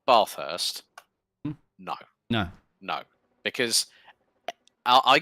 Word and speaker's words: Bathurst: those if you say Bathurst no no no because I got corrected about that a few years ago they went no it's Bathurst yes there's no bars there my friend it's hot